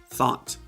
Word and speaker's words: thought: This isn't thought, it's thought. So the UGH is silent.